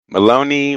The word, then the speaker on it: Maloney: Maloney rhymes with baloney.